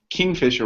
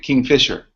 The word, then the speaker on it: Kingfisher: I've been saying kingfisher wrong. I had a long discussion on Facebook about how I'm saying kingfisher wrong. I was saying it kingfisher. Wait. You did it. This is the right syllable.